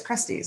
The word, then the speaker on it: Krusteaz: I mean, I've known the name for so long that I'm like, wait, it's Krusteaz.